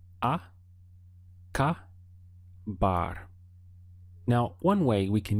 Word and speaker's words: acabar: way let's get started the sound of the verb acaba has three syllables so we have aa car bar now one way we